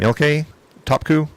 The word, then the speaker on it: Ilke Topku: How do you pronounce his name? Ilke Topku? Yes.